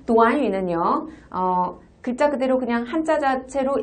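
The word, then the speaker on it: 短语: 근데 이 구가 한국어로는 구지만 중국어로는 구가 아니라 도안유라고 읽힙니다. 다 함께 도안유. 한 번 더 도안유.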